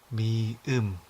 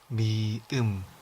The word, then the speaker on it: 미음: The symbol 미음 shares the same beginning sound as meat, followed by the sound. Here you put the emphasis on the e. 미음, 미음.